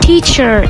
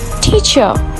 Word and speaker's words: teacher: In British English, if letter R appears after a vowel sound, it will be silent. So, the correct pronunciation of these words will be teacher, adventure, and important.